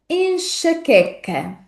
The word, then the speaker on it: enxaqueca: A letra X, como disse, volta a ser pronunciada como X nesta palavra, e na sílaba seguinte, não se esqueçam de que vamos pronunciar a sequência de letras Q, U como que. Não pronunciamos o U desta palavra.